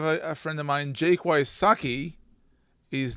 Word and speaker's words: Wysocki: So And technically, I think it's Wysocki. I went to Poland a decade the ago. W's a V, yeah.